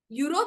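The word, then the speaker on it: Europe: लेकिन एक होता है यूरोप। यूरोप भले ही वोवेल से चालू हो रहा है, लेकिन यूरोप का प्रोनाउंसिएशन क्या आ रहा है? यूरोप, यू, य। तो आप इसके पहले क्या यूज करोगे?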